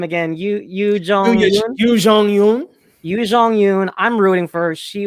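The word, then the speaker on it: Youn Yuh-jung: I will say I'm rooting for I'm sorry, Leo, pronounce her name again. Yoo Jong-yoon.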